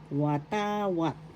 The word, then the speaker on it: watawat: wat flag in English first syllable wa second syllable ta third syllable what the accent is in the second syllable watawat flag in English the next